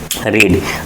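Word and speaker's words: read: Next रीड रीड पढ़ना। रीड spelling second form third form की same होती है लेकिन रीड रैड रैड पढ़ते हैं।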